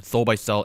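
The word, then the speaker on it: Soulbysel: check it out for our audio listeners this is spelled s-o-u-l-b-y-s-e-l compilation um under the artist name Soul by cell s-o-u-l-b-y-s-e-l on Spotify cool all right I'm gonna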